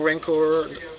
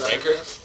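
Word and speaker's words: Rancor: various people uh double rinkor is pretty good you mean ranker pronounced ranker by the way I know you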